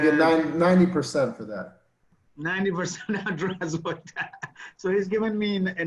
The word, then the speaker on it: Здравствуйте: 90% Zdravstvuyte.